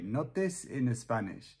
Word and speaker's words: Notes in Spanish: Yeah, we pronounce it in a very Spanish way. Notes in Spanish.